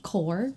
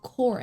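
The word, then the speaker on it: Kore: Okay, it's not pronounced core with a K. It's core, which is Greek word for one of the Greek words for Persephone, maiden, girl.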